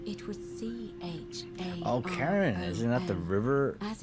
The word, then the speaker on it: Charon: Only you're pronounced... It was C-H-A-R-O-N. Oh, Karen, isn't that the river?